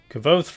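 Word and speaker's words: Kvothe: Kvoth rhymes with both.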